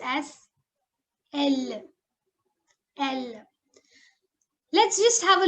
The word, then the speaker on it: elle: She is pronounced as elle.